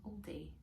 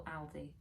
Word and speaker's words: Aldi: I've got a couple of things from Aldi, or Aldi, depending on how you pronounce it.